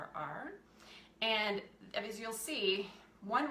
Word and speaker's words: Kerr: It's actually the Kerr, I think I'm saying it correctly, Kerr.